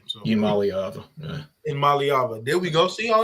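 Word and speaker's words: Iamaleava: love me some ni but um I can't pronounce his last name so IM malava IM malava there we go see all I need is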